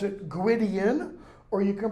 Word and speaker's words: Gwydion: you can pronounce it Gwydion. W in Welsh is pronounced as U. Okay? Two D's together are pronounced as Z. Two L's together are pronounced like an H and an L together.